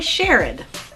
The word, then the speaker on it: Sherrod: It's actually Sherrod. Next time you see her, make sure that you pronounce Miss Sherrod's name correct.